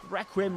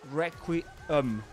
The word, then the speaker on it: Requiem: And pay attention to the pronunciation. That's Requiem. Requiem. And with a schwa at the end. Requiem. But another pronunciation of that word is Requiem. Requiem. Which is actually the one that most people go for, actually.